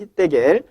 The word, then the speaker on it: 히데겔: 히데겔은 H 발음으로 이렇게 시작이 되죠. 그런데 이것이 이제 영어식 발음으로 바뀌면 이제 H가 묵음 처리되면서 테겔 이렇게 가거든요.